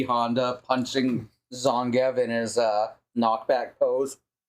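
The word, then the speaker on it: Zangief: gut just E Honda punching zongev in his uh knockback pose is that how you pronounce that name zongif yeah okay I suppose whether you're coming at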